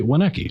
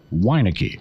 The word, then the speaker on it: Weineke: right right right right it's not actually wenecky well so it's pronounced weineke why is it actually